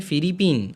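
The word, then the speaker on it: フィリピン: अब यहां देखिए फिलीपींस फिलीपींस को रोमाजी में फिलीपीन और यहां पर फू के पीछे छोटा ई फी और कोई स्ट्रेच नहीं है फी फी री पी फरीपिन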